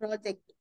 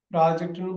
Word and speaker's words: project: PROJECT ப்ராஜெக்ட் ப்ராஜெக்ட்னு படிக்கலாம், ப்ரொஜெக்ட்னு படிக்கலாம்.